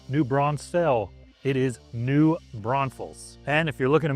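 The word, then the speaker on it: New Braunfels: You just explain, you just pronounce it the way it looks. But it is not New Bronze Fells. It is not New Bronzefell. It is New Bron Falls.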